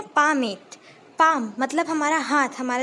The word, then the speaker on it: palmate: इस पे लिखिए PALMATE, है ना, पामेट।